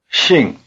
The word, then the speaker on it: 姓: as halfway between the first syllables of the English words single and shingle. If it sounds more like shingle to you, notice these two differences. 姓。 Is pronounced with the tongue farther forward and with the lips spread. First try repeating. 姓。 Concentrate on keeping your tongue forward in a tight E position.